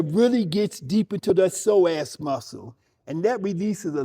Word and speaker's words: psoas: And there's a deep inner muscle in there called the psoas. p s o a s and we release the psoas muscle.